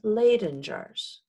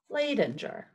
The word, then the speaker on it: Leyden jar: is a type of electricity storing it in Leyden jars excuse me Leyden jars in his footsteps many